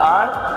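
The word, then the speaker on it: hour: एक घंटा है तो 1 आवर, दो घंटे हैं तो 2 आवर्स. इसको हावर नहीं बोलना है, ओवर भी नहीं बोलना है.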